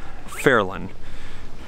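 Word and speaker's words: Fairyland: mountain here in chattanooga this is a neighborhood called fairland but let's be real it's spelled fairy land and look at this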